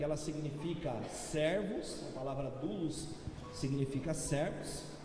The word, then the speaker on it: doulos: Esse seminário como dolem ele se pronuncia dulos dul digam todos comigo